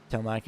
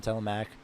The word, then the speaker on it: Telemac: It's been how many weeks and I still pronounce the E in Telemac when it should be. It should just be Telemac.